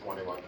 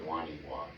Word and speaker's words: Wonewoc: It depends on how you say it. If you're from here, I think you say Wonewoc. If you're not from here, you say Wonewoc.